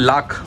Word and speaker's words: लाख: इसको बोलते हैं लाख, लाख प्योर लाख, LACK लाख, लाख। इसका प्रोनाउंसिएशन अलग है लेकिन बोला जाता है लाख लाख, लाख के कड़े, लाख के बाला।